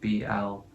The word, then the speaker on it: Blount: However, it's still pronounced the same way. Blunt spelled differently, and it is still his legal last name. So his legal last name still is Blount, not Blunt.